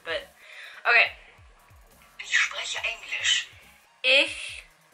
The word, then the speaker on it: ich: Ich... Is it ich or ish? Because my mom thinks it's ish, but I think it's ich. Because this one is pronounced individually, it sounds like ich.